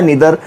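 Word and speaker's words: neither: ईदर ऑफ भी होता है, नीदर ऑफ भी होता है। लेकिन जब ईदर के साथ ऑफ और नीदर के साथ यानी कि नाइदर के साथ ऑफ लगेगा तो वो डिस्ट्रीब्यूटिव प्रोनाउंस हो जाएगा, वो कंजंक्शंस नहीं होगा।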